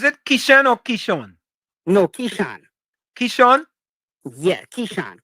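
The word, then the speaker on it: Keshan: No, Kishan. Kishan. Yeah. Kishan. K E S H A N. K E S H A N. Yes, sir. So, is is it pronounced Kishan or Kishm?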